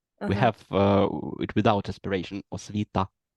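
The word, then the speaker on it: освіта: Yeah, and we don't have this aspiration on t like it's in English. We have it without aspiration. Osvita, like this.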